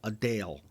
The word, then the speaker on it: Adele: not Adele it's Adele or a day Adele a Dale a Dale is her name so you got